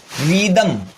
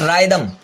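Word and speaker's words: rhythm: रिदम, रीदम, नॉट रायदम, रिदम।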